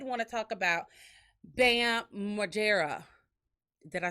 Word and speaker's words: Margera: But I did want to talk about Bam Margera.